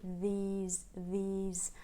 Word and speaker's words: these: days right and but still these has the key vowel and it should not be lost it shouldn't become now this days yeah or now these days so it should still be these these um try to make